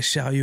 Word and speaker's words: Sheryo: Ouais, Chariot. Comment ça s'écrit, ça?